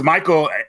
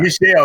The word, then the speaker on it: Michel: And since Michael, I forgot how to pronounce his last name. Michel Ancel, something like that. Michel, thank you.